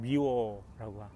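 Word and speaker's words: Mewar: 이름 미화 미 War 저는 미워라고 발음합니다 미워 왕이 저성에 갔었다는 그래서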